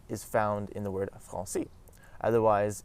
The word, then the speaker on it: français: found in the word français. Otherwise, if we didn't have the cédille in this word, it would be pronounced as franqué, and that just sounds wrong.